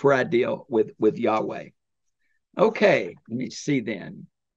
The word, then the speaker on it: Yahweh: Genesis 2:4 and it we think it's pronounced Yahweh we're not sure because the Jews would